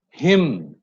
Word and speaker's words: hymn: Now, N is not pronounced if words end with MN. You know that. Autumn, column, dam, hymn. We are not pronouncing the N.